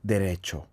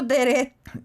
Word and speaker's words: derecho: And if you change 자격 to Spanish, is derecho, which also could mean 직진, to go straight.